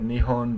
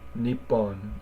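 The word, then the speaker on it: 日本: um but again uh the first one isn't really neep it's like knee and then double the next consonant is the way that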